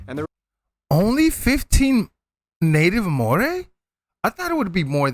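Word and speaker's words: Māori: Korea and Japan yes by the way it's pronounced Mori not mayori Ma say that again what various countries like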